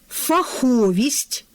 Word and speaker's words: фаховість: Також фаховість, абстрактний іменник, прислівник фахово. Отже, необхідно запам'ятати ці однокореневі слова в такому порядку: фахово з наголосом на першому складі. Фаховість - другий наголошений склад, фаховий наголос на закінченні, тобто на третьому складі.